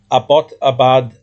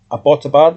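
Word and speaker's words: Abbottabad: This is a Abotabad think Abotabad I think is the right pronunciation flash flooding at this teaching hospital in this city in Pakistan.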